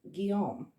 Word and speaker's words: Guillaume: how to pronounce this this is the french version of william and guillaume is how you would say it i believe i got that right muso so this will